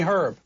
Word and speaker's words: Herb: producer or H the H is silent Jeremy herb if you will they went through the usual